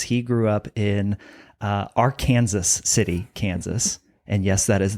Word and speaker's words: Arkansas City: He grew up in uh our Kansas City, Kansas. And yes, that is the the correct pronunciation of our Kansas.